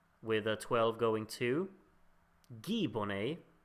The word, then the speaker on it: Guy: going to Guy Bonnet, as I've now learned I'm supposed to pronounce it. But you can't like write the name Guy and just assume people understand you should pronounce it Guy. That makes no sense in my head, because I'm stupid.